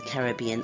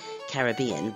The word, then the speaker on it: Caribbean: or the Caribbean Islands, or Caribbean, if you pronounce it that way, as I know many of you do. I think in England we say Caribbean, but I often say Caribbean because I've lived in North America for decades.